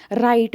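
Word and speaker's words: write: राइट में W silent है ना।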